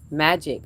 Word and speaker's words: Magique: Magique, is it Magique? Am I saying it right? Magic. Oh, I'm saying magique, like I'm giving you an accent.